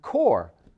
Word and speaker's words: corps: a canife there are the silent p's found in the peace corps for example no not in the word peace but in the word core c-o-r-p-s which also contains a silent s there is psychology that